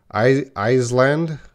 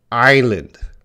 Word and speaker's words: island: That S is silent. So they sometimes say Iceland. Ooh, no. Island. So everyone, never make a mistake with this word.